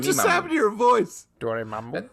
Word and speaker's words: Dormammu: Dormammu. That's how you say it.